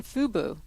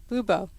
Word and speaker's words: Fubo: You mentioned Hulu Live and YouTube, but failed to mention Fubo. I said it wrong. Fubo.